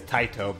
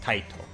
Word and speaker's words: Taito: I know it's definitely is Taito because I'm taking Japanese this semester. Mm. So I know that it would be pronounced Taito.